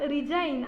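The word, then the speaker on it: resign: जी एन उसके बाद रिजाइन रिजाइन में भी साइलेंट होता है एस आई जी एन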